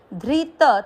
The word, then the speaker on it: धृतः: आधे स के साथ व पूरा स्व, फिर वापस ध्री, ध आधा री की मात्रा, धृत, त में मिक्स किया और त में अ की मात्रा इसलिए विसर्ग को पढ़ेंगे ह, धृत।